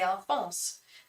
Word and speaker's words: Alphonse: Yes, I pronounce it the French way. I have a French friend called Alphonse who he is French. He lives in Paris, so I always say Alphonse.